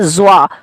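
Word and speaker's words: ظ: और इस पे अगर नुक्ता पड़ जाए तो ये ज़्वा कहलाता है।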